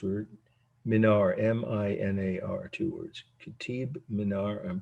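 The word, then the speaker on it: Qutb Minar: q-u-t-b the first word minor m-i-n-a-r two words kitib minar i'm pronouncing as closely as i can i i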